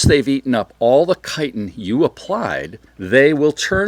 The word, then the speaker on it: chitin: That's Chitin. And you want to pronounce it chitin, but that's not how you pronounce it. It's chitin.